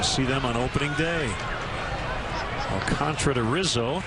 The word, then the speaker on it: Alcantara: It's got an extra A in there, but that is exactly how it's pronounced.